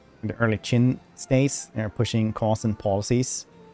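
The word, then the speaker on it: Qin: China because the Q is pronounced as ch in Chinese.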